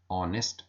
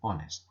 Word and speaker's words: honest: H which is a consonant letter but it pronounced as o honest and honest but there are some words which begin with